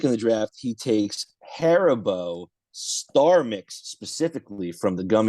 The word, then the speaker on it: Haribo: You ever hit the But the- pronunciation? the It's Star Haribo.